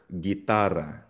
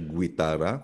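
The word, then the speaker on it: guitarra: G sound, guera or gitara. Gitara. Silent ang letter U dito ah. Hindi siya gerera. Hindi siya guitara kundi or gitara.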